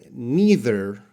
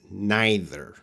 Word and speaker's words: neither: can be these words these words can be pronounced two ways so the first one either or either and the second one neither or neither so what am I